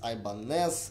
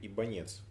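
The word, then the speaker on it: Ibanez: Ибанес, Ибанес, Ибанез, Айбанес, Айбанес, Айбанс, Айбанез. Короче, сколько вариантов я уже слышал, аж слух режет, так как сам лично говорю Айбанес. Нет ни одного правильного, потому что еще раз говорю, Ибанец. Ибанец.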